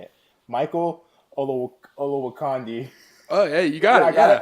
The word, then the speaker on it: Olowokandi: still know how to say it Michael although Olowokandi oh yeah you got ya okay got it